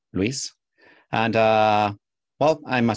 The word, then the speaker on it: Luis: name is Luis you can pronounce my my first name Luis and uh well I'm